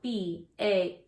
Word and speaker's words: balance: It is spelled B-A-L-A-N-C-E, and balance has a soft C. So when you see this word, remember the C says S, balance.